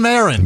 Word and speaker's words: Marin: meet you I'm Marin Mar I'm going with a long a right now make this